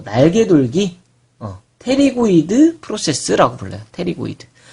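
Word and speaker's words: pterygoid: 테리고이드. 여러분 이제 책 보면 이게 P로 시작하는데 묵음입니다. 그래서 이제 테리고이드라고 부릅니다.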